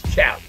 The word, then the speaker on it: Kalli: And then it's Cali. You don't have a C, you got a K. So Cali or Cali, either or.